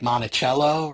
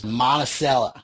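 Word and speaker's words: Monticello: We were in a place now it's spelled like Montichello but is Monaceella Georgia and we were eating at a diner.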